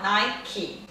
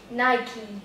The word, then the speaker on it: Nike: Até hoje eu ainda faço alguns erros nessa marca, desse jeito de falar Nike. Então imagina um I no final, Nike. Nike.